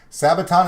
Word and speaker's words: Sabaton: in fort worth texas they start with an s and they rhyme with brabaton sabaton is coming to dallas